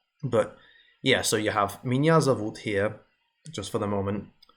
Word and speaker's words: Меня зовут: So yeah, it's spelled Меня зовут, but it's pronounced Меня зовут, owing to where the stress is.